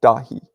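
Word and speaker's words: Dáithí: my boy's name is David right and it's pronounced dahi uh my other boy's name is Patrick it's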